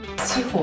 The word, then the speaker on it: 枝鳳: なんですけど鳳の字を一時いただいて数えの絵が枝なんですね地方と読みますめっちゃい伊藤かずえ